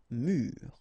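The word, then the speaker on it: mûr: Un mur, and the adjective mur. Okay, so un mur and mur.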